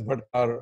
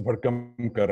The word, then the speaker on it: Bhadkamkar: It actually at times comes in as Bhadkar or Bhamdamkar. So there have been very funny pronunciations, but yeah, the name it gets confused with Bhandarkar, Bhadkamkar. It says Bhadkamkar actually.